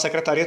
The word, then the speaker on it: secretaria: E é uma palavra paroxítona, porque qual é a sílaba tônica? Secretaria, secretaria. A sílaba que eu dou mais ênfase e que eu alongo a vogal é a sílaba ri.